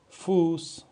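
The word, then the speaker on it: Fuß: اس دوستان این شارپس صدای سه میده می‌تونیم شارپس بذاریم می‌تونیم هم دو پل اس بذاریم هر دو معادله هم هستن مثل فوس مثل فوس به معنی پا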